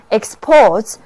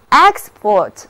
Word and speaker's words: export: 是短的 e，export，单词的重音是第二个音节。那日本向许多国家出口货物，就是 Japan exports to many countries， Japan exports to many countries。